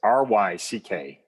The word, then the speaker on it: Ryckaert: Yeah, it's Ryckaert. It's the double vowels and the CKs that get people. I tell people usually it's common spelling, but it's spelled as it sounds.